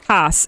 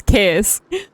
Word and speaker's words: Kas: If anyone is curious about how to say my name, it's CosyKas. I made a mistake yesterday. And I called myself Cass. It is not Cass. It's Kas.